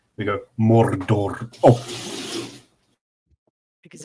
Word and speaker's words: Mordor: Just the word Mordor, and it's Mordor if you're pronouncing it correctly.